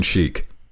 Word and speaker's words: Chic: Their name is Iron Sheik, but Sheik is spelled C-H-I-C.